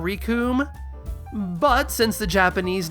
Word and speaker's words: Recoome: They also tend to pronounce it with a shorter vowel sound, more like Rakum than Recoome.